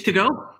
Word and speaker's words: Togo: name was dick and his last name was tio geo sticks to go yeah they pronounced it togo and he still wrestles